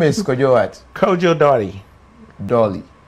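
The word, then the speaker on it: Dartey: Kojo Dotty. Dolly. Dotty. Dot. D-A-R-T-E-Y. Oh, your T, I didn't hear it in your pronunciation.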